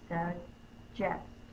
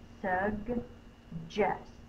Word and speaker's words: suggest: Suggest. Now, G followed by an E-R-Y says J. The J sound. Suggest. The syllable break is right here.